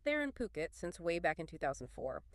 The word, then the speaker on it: Phuket: The remarkable resilience of the property market in Fuket. That's pronounced Puket, by the way.